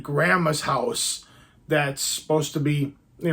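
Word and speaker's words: Hausu: and crazy um and I pronounce it house I know there's another I know there's another J Japanese way to maybe pronounce it I don't actually it's Housey maybe Housey um but this is movie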